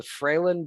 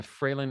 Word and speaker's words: Fralin: developmental disorders and the freylin institute is spelled hell f-r-a-l-i-n that seems straightforward enough it is it is phonetic as so few things